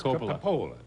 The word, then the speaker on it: Coppola: Oh, he doesn't know how to pronounce that. It's Coppola.